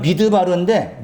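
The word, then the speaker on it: מדבר: 히브리어는 미드바르인데 미드바르라 발음이에요.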